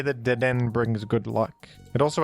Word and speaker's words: Dedenne: And by the way, before you say anything, I know that the official pronunciation of this Pokemon is Dedenne.